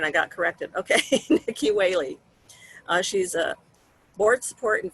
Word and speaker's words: Whaley: It is how you pronounce it, right? Whaley, not Whaley, like whale on what the is ocean.